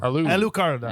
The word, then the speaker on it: Alucarda: Are we going with Al-U or Al? The way they say it, Alu. Alucarda. Yeah. It's a Mexican movie. Yes, Alucarda.